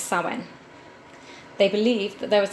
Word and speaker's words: Samhain: night of the year samhain or pronounced sawin they believed that there